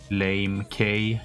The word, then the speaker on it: Lamech: pronounce the name correctly lamech lame k yeah lame k because he's pretty lame we call him lame k but this